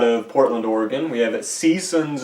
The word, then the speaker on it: C-Sons: Portland Oregon we have seasons at greetings emphasis on the sea we're a little late